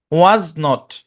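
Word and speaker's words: wasn't: ওকে তারপরে দেখেন মূল ফর্ম হচ্ছে ওয়াজ নট ওয়াজ not okay এটা যে ওয়াজ আপনারা তো জানেন ওই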